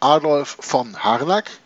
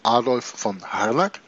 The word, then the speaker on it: Adolf von Harnack: Adolf von Harnack. That's him. That's the way you pronounce his name. Adolf von Harnack.